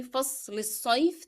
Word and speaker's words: الصيف: So because I will say فصل الصيف together, I pronounce the kasra appearing below lam in فصل, and then I dropped the sound of lam in الصيف because it is followed by a shadda letter.